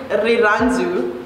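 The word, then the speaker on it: Rirhandzu: The pronunciation for this word, especially my mom's name, so shout out to my mom, it's Riranzu, which means love.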